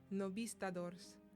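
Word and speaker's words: Novistadores: Chapter 3-2, I'm going to attempt to pronounce it the Spanish way. Novistadors. I'm learning multiple languages and I still can't get over the fact that B and V are pronounced the same.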